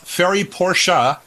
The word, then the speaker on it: Ferry Porsche: How do you pronounce it? Well, Ferry Porsche, when I met him, said Porsche.